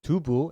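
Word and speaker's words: 두부: Tofu, or dubu as it's pronounced in Korean, is white and clean, symbolizing a fresh start.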